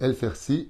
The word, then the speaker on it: El-Fersi: C'est pas El-Fassi, c'est El-Fersi Yochanan, Bezrat Hashem, pour l'élévation